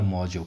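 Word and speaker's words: Mauzo: वो मिला है दामोदर मौजूद हो या मौजो बोलो या मोजो बोलो ठीक है ना जैसे आप इसको प्रोनाउंस करोगे तो डिमांड दामोदर मोजो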